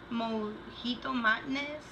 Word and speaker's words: Mojito Madness: Nail polish that I've been wearing for this week is Essie's Mojito Madness.